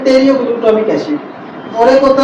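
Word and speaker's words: pteroylglutamic acid: होता है साथियों टेरो टेरियो ग्लटामिक एसिड तो इसमें हम टेलीमी क्यों बोल रहे हैं इसको क्योंकि इसमें पी साइलेंट है ठीक है जी तो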